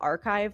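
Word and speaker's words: arXiv: There's actually a website called archive, like it's spelled like arcs, like a ru x iv.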